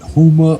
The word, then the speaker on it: Huma: dang name Uma hum no it's it's it's Huma vachi humon yeah vachi yeah yeah um Susan